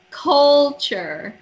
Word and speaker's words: culture: culture. Culture. Yeah. Culture. The first U right here is pronounced with an O sound.